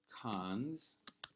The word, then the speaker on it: cons: to have e : or cons you actually pronounce it cons econ's uh well not hold on one second